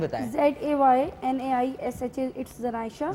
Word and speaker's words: Zaynaisha: जनाइशा के नाम से ही है। स्पेलिंग बताएं। ZAYNAISHA, इट्स जनाइशा। जनाइशा।